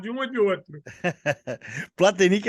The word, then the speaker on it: Platenik: Hoje eu estou aqui com o meu amigo João Cláudio Platenic Pitilo, como é que seria a pronúncia correta? Pitilo, né? Platenic Pitilo mesmo.